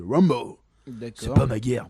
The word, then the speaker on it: Rambeau: Moi j'ai toujours dit Rimbaud, mais apparemment c'est Rambeau, même si ça s'écrit Rimbaud, c'est Rambo.